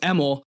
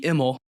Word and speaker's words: Emmel: It's pronounced Emmel. Used to be Immel. Changed it when they moved over to America.